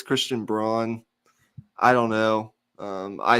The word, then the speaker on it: Christian Braun: He says it's Christian Brown. Some say it's Christian Braun.